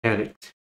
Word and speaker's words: addict: So keep in mind or be aware that the stress is at the first syllable. Alright, addict.